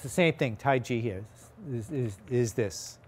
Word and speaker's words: Taiji: I right right so going back to how you pronounce the Chinese language this Tai Chi is incorrect although there are places